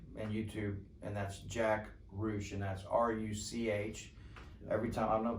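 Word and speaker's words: Ruch: i see him i ask him how to pronounce his last name yeah it's rouge it's rouge it's r-u-c-h okay yeah and so uh my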